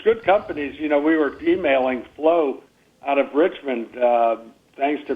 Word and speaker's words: Phlow: We were emailing Flo out of Richmond, thanks to Peter Navarro's insight. It's gotten a big grant to manufacture quickly and efficiently, and Flo is spelled PHLOW in the Richmond area, and